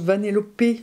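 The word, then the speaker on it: Vanellope: vanéope vanéope sch je je sais juste que ça se prononce vanéopé j'ai demandé à Sam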